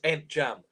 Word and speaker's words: Ntcham: It's Ntcham. Olivier Ntcham. Ntcham. So it's a tricky name to pronounce that, but Olivier Ntcham.